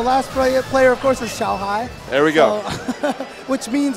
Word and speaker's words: Xiaohai: So the last player, of course, is Xiaohai.